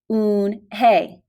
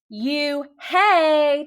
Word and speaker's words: Unhei: no no unhinged corrected it's spelled u-n-h-e-i it's pronounced un hey oh it's you hey the boy said like